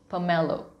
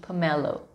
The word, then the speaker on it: pomelo: pomelo atau jeruk Bali pomelo bukan pomelo tapi pamelo Oke jeruk bali efek